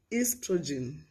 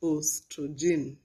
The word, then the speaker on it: estrogen: enology enology and inophyl inophyl inophile we have estrogen estrogen not ostrogen estrogen and we also have amoeba amiiba i